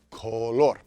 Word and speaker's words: color: Emphasis on that second syllable, color.